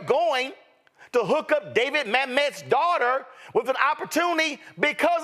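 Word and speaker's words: Mamet: let's just be real David Mt I think that's how his name is pronounced is a legendary screenwriter are you trying to convince me that if your last name was mamt and you asked for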